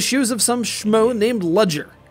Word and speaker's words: Ludger: Instead, we open, in combat, in the shoes of some schmo named Ludger. Except the D is silent, so it's actually Luger, like the gun, because, well, just wait and see.